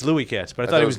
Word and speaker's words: Louis Katz: Wait, it's pronounced Louis Katz? I thought it was No, I thought he was. It's Louis Katz, but I thought he was doing it like an announcer who didn't know.